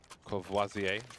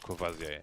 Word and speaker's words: Courvoisier: Courvoisier.